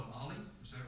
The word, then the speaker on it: OLLI: appreciate Southwest Collection and, as we call it, Ollie. Is that right, Emma? I was trying to pronounce the Osher Lifelong Learning Institute over in Oregon, so I didn't mess up, but you said Ollie, and that helps out a lot.